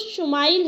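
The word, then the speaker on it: ישמעאל: خوشخبری سنا دی گئی۔ عبرانی زبان میں اسماعیل کا تلفظ شمائل ہے۔ شما کے معنی ہے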